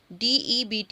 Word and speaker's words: debt: Date बोलते हैं कर्ज को. DEBT इसकी स्पेलिंग होती है, उसको प्रोनाउंस किया जाता है डेट, यानी कि बीच में साइलेंट रहता है.